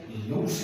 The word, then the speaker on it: loose: ये जो लूस है, LOOSE, लूस, ये एडजेक्टिव है जिसको आमतौर पे कहते हैं ढीला।